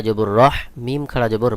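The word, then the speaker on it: رحيم: সঠিক উচ্চারণ হবে রহিম।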